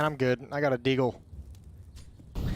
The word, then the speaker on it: deagle: I got a deagle. It's pronounced Deagle.